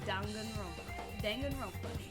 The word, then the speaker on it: Danganronpa: that said it right he said it danganronpa he's the only one that said it right gundam of course the